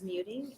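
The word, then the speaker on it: Muething: my last name is Muting, M-U-E-T-I-N-G.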